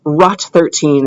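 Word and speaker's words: ROT13: Caesar Cipher uh another word for that is rot 13 is how I'll pronounce it and it stands for rotate rot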